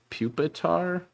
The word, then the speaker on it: Pupitar: larva tarzan larva and despite being spelt puppetar it should be pronounced pup pupitar as in pupa i don't [ __